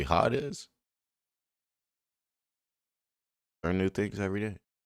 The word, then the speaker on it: Hades: It's not actually Hades. It's actually hot is learn new things every day.